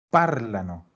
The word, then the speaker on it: parlano: Nunca un verbo en presente conjugado en loro va a terminar en la terminación ano. Siempre va a cargar antes. Y a veces vamos a tener más opciones, a veces tenemos solo una como esta. Nosotros sabemos que solo puede cargar en esa A, por lo tanto es loro parlano.